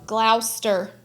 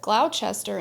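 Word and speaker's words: Gloucester: bring it bring it in Glouster so how you say yes it's not how it's spelled it's not how it's spelled and so in an episode I said Glouchester and you better believe I got some comments I thought it was Glouchester too that's what it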